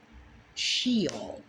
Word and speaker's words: Sheol: Now from there, let's go to the Hebrew word sh. Shol. Shol. sh which is spelled s h e o l.